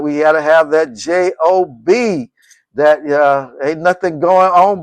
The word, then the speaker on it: Job: And we pronounce it a job, but we're talking about the person called Job.